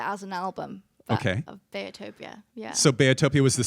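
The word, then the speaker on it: Beatopia: an apology I've been calling your latest album betopia but I understand it's bayotopia right okay tell me about the pronunciation and why I was messing it up bayotopia so it's because my parents call me Bayer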